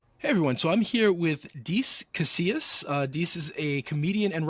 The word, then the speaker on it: Dece Casillas: So I'm here with Dece Casillas. Dece is a comedian and writer. Dece, did I get your name pronounced right?